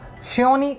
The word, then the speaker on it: Xiaomi: मुझे पता लगा कि इसके जो प्रोनंसिएशन है that is नॉट Xiaomi, it's pronounced as Xiaomi।